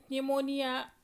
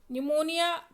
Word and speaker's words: pneumonia: is that is plural pneumonia like organism pneumonia P is silent right plural pneumonia like organism also my